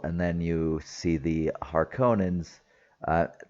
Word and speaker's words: Harkonnen: And then you see the Harkonnens. Uh, they pronounce it differently in this movie. It's like Harkonnen, something like that.